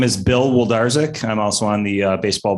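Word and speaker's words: Wlodarczyk: too sir my name my name is bill woldarzak i'm also on the baseball board i can spell it w-l-o-d a-r-c-z-y-k that's it that's it there's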